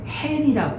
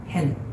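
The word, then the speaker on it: הֵן: 1절의 히브리어 본문 붉은색을 보면 얘는요, 아까 단어하면 이건 hen이라고 읽거든요. hen. 무슨 뜻이냐면 보라, 주목하라, 참으로 라고 해서 32장은 완전히 다른 단어로 시작합니다.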